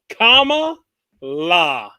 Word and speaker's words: Kamala: right but apparently uh tucker carlson said it wrong and and was getting the wrath today so i guess it's comma la which is funny because